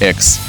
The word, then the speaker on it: EX: This is Begode EX, or as the Americans say: Ex. That is, the former in their slang. But I like *EH-EKS* better. You can still just prolonged EH.